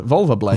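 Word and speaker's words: Wulverblade: But you got to say it like Wunda. Like Wunda. Well, because, like I mean, the Wunda. U suggests Wunda. like kind of more Germanic pronunciation of the W, which that's what I'm doing.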